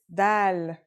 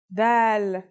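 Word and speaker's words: دال: our first letter is DAL it's just like the English D very easy to pronounce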